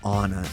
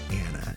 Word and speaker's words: Anna: She goes, "I don't want to correct you, but it's pronounced Anna. It's not Anna."